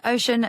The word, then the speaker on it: Oshun: Thank you so much again to Ocean for sponsoring this entire series of the podcast. We are very grateful and also thrilled to be spreading the word about such a lovely brand. Yes, and Ocean are giving our listeners 10% off with the